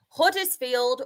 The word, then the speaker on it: Huddersfield: Huddersfield won Bolton nil. And Sean, I saw your tweet to me before and I just pronounced my H in Huddersfield.